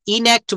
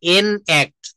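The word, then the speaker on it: enact: এনঅক্ট। ইনক্ট বলবেন না। এটা হবে এনক্ট।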